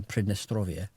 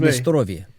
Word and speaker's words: Pridnestrovie: It's called uh Pridnestrovie. And the um and I'm in very much enjoying saying that with like a slightly rolled R like I know what that means or how to say it properly.